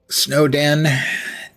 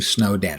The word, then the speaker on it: Snowden: I'm trying to change the way I pronounce it. I pronounced it Snowden for 13 years based on the fact there was an English politician named Lord Snowden. But it occurs to me that it's snow den because it's a snowy place with dens.